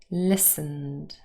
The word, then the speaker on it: listened: to a preposition but listened is a verb now we have two syllables here again list the first syllable is stressed and remember the t is silent here listened however there are also